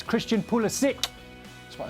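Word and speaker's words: Pulisic: 15 years find it holistic holistic okay like terrific holistic like terrific yeah i mean he's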